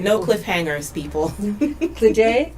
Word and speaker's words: Glede: Glede, I said it right? Right.